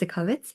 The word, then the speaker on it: Itzikowitz: So, my surname is basically unpronounceable. Um It's Itzkovitz.